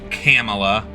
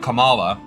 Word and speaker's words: Kamala: what is I'm sorry camela cuz I was told I need to pronounce it like Pamela instead of Kamala or else I'll be racist uh you know never